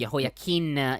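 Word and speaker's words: Jehoiakim: kings of Judah so yahim slept with his ancestors then his son yahim succeeded it is it just pronounced differently isn't it yes yakim instead of Yim gotcha in in Hebrew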